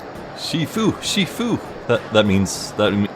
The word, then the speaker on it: Shifu: one got it Shifu Shifu that that means that that means Master by the way or is it I think it's pronounced sifu yeah it's sifu your agent Lane I take